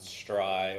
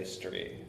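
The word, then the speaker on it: STRI: There's some debate on whether it's pronounced Stry or Stree, and I say Stree, and that's a hill I'll die on.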